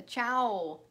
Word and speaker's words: ciao: trouble like that hello Tammy Oh Co is pronounced a ciao ciao the see ciao I can see where